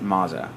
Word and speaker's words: Maza: Bill O'Reilly came from uh they pronounce it Maza.